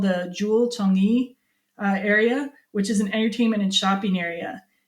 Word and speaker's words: Changi: be from Singapore, and it said that you should call it Changi Singapore Airport.